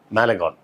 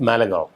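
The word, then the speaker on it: Malegaon: அந்த படத்தோட பேர் வந்து super boys app மேலகான் super boys app மேலகாவ். கான்னு போட்டுருக்கும் ஸ்பெல்லிங்க. ஆனா காவ் அப்படின்னுதான் அத உச்சரிப்பாங்க.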